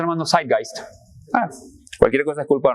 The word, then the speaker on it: Zeitgeist: ¿Cómo se pronuncia, Armando? Zeitgeist.